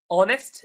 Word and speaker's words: honest: Honest, the H is silent.